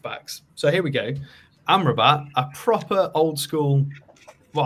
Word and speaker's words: Amrabat: Well, it's a Rambat or Amrabat, whatever you want to pronounce it. Sofyan. I mean, the second Amrabat. one, because the first one was wrong, but yeah.